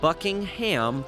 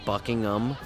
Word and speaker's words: Buckingham: Here we are at Buckingham Palace. Someone told me once that Americans put too much emphasis on the ham part of that word. So, you could pronounce it Buckingham.